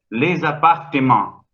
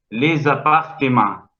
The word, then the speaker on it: les appartements: Solamente cambiándole el valor fónico, pero no significa que no se pronunciaba. Les appartements. Les appartements.